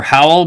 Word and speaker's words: Howell: I mean, they're from Howell, Michigan? Houle? Howell? It's pronounced howl, like a dog howling.